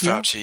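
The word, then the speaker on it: Fauci: do you say in how do you say in Italian um CLE isn't it fouchy it's fouchy yeah so is he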